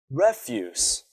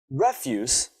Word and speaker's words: refuse: now let's look at another word refuse refuse means rubbish but what if I say refuse now it becomes a verb it means that you don't want or won't do something let's see an example she always refuses to go swimming just by changing the position of the stress in a word we can change the meaning and form of the words now why is word